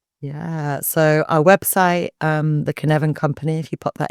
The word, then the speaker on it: Cynefin: Yeah, so our website, the Cynefin Company, if you pop that into Google, it's Cynefin. Everyone always mispronounces it as Cynefin, but Cynefin. My Welsh ancestors will be happy with that.